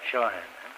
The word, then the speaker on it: Shawhan: Shawhan, is that how you pronounce it? That's right. Shawhan.